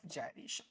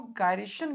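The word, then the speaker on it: gyration: बोलती है radius of जाइरेशन। कुछ लोग इसको गायरेशन भी बोलते हैं, तो तुम लोग ज्यादा वरीड मत हो जाना प्रोनाउंसिएशन से, जाइरेशन ही सही प्रोनाउंसिएशन है।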